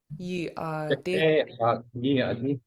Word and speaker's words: yeey.aadí: The I in this word is pronounced shorter than a double E, but a very similar sound. So it's aadí. Aadí.